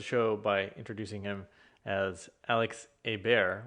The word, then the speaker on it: Alex Ebert: by introducing him as alex a bear which would be the french pronunciation and so this conversation